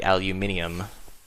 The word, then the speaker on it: aluminium: I'm going to go ahead and put this aluminum in the compressors here. We're going to turn that into the aluminium, as the Brits say, and this pack as well, the cook stuff.